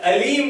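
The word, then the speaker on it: أليم: Another example, Alim and Alim. Alim with Ain means most knowledgeable, and Alim with Alif, most painful.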